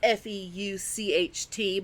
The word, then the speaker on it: Feucht: I'm just going to pronounce his last name Fucked, because I don't know how to pronounce it. Yeah. It's Feucht, but I'm going to pronounce it Fucked.